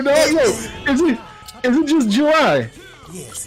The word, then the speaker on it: July: You say what, Julie? I can't respond to you. You have a name wrong.